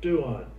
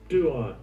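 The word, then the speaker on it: πτύον: Duon. Duon. Duon, all right. The P is silent.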